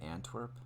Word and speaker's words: Antwerp: i saying it right antwerp it sounds like ant and twerp and like twerp is